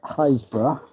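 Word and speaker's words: Happisburgh: Apparently the locals call it Potterum which is no surprise being in Norolk and you consider the lighthouse at Hapersburg is pronounced Hazbor then Potterum for Pottery does make a bit more sense.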